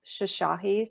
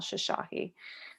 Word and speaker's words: Shoshahi: on instagram that's easiest it's just at shashahi so if you guys see my last name